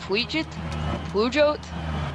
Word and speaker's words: Peugeot: Yeah, see, Pujot?